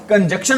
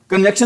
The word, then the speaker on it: conjunction: कंजक्शन की spelling भी आ जाती है, बच्चे इसको बोलते हैं कंजक्शन, लेकिन इसको करेक्ट प्रोनाउंसिएशन क्या होती है इसकी? कंजंक्शन।